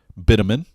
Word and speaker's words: bitumen: the official one but bitumen instantly I've heard it before that's apparently more of a UK kind of pronunciation but maybe it just